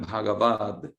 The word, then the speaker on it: Bhagavad: Tenemos Bhagavan, pero para hacerlo más sencillo en la pronunciación, se transforma en Bhagavad, que va a ser más fácil de pronunciar con la G posterior.